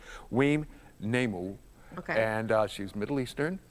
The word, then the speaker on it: Weam Namou: I just have to look down because I definitely want to make sure I pronounce the name correctly. Weam Namou.